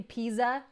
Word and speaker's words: pizza: you don't call Pizza you don't say pizza you say pizza that TZ that's how you pronounce Mozart